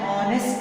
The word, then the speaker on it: honest: An honest. Here H is silent, dear student.